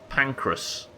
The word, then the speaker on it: Pancras: north london i think i don't think it's spelled like that but it certainly does sound like it's pancras right uh how much looking